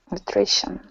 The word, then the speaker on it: nutrition: ti kind of makes like an sh sound so that's also a pattern that you'll probably notice so if we say this word same thing we have the Tio n so this word is pronounced nutrition nutrition nutrition good nutrition good another